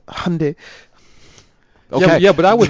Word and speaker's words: Hyundai: It's Hyundai. Okay. Yeah, but I was mispronouncing the Chinese the whole time and I'm like, really?